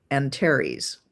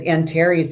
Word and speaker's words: Antares: is conjunct one of the 4 royal stars, Antares, if that's how you pronounce it. Yeah, it's Antares.